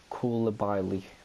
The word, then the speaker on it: Koulibaly: I always say his name wrong. Koulibaly, that's his name.